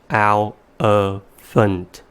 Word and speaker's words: elephant: The vowels in the second and third syllables somehow change to a sound, which doesn't exist in the given phonograms. And the reason why those vowel sounds somehow change is because they are in the unstressed syllables.